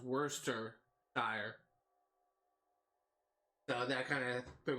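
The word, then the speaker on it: Worcestershire: of because you would think it uh be pronounced War Chester sh or something like that because of how it's spelled but apparently according to my instructors at Chico State University it's pronounced Worster sh so that kind of threw me off so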